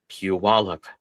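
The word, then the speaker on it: Puyallup: So if you see that uh that name come up on the map, it's pronounced Puallup.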